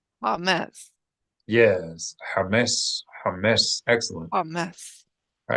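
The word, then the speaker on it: chametz: In the meantime, it's better to pronounce it like an H, knowing that it's not exact, than to pronounce it as a kha. Kha is very far from it.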